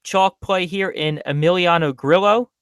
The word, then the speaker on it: Grillo: play here in Emiliano Grillo or really it's griot if we want to talk about you know Spanish pronunciation but don't mind me